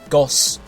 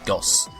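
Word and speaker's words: ゴース: the naming for Gastly it's Japanese name gos is basically just from Ghost it's ghost without the tea that's how it's spelled and it's pretty much said the same way gos so yeah that's it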